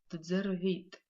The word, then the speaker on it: дзервит: Мурат дзервит. Мурат дзервит. Мурат слушает. Звук дз, который мы встречаем во втором слове, этот звук пишется как дз. Произносим как дз.